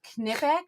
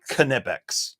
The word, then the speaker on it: Knipex: And I don't say knife, but some people say that this is supposed to be pronounced Knipex. Knipex. Get the fuck out of here. Right. Get that shit out of here. Yeah, it's because you think that's how they say it in German. Well, I don't know if they say it that way in German or not, and I don't care. I'm going to call it Nipex because, like I said,